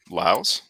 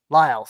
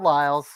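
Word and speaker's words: Liles: uh john michael lills laos lyles thank you i've never had to say his name out loud john michael lyles you're welcome uh pierre pierre lacroix pierre lacroix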